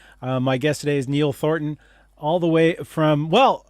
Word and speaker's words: Thornton: My guest today is Neil Thornton, all the way from, well, originally from New York, currently living in Wellington, New Zealand. Please welcome to the screen, Neil Thornton.